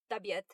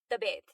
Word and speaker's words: तबीयत: So I have to confess, I've never pronounced the word tabiat properly. I always said tabet, like aapki tabet kaisi hai? And that's how I feel I've heard others pronounce it.